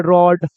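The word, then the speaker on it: road: आर को पढ़ेंगे र, दो कॉन्सोनेंट के बीच में ओ है तो ओ की मात्रा लग जाएगा रॉ, और डी को पढ़ेंगे ड, तो देखो इसको लोग बोलता है रॉड।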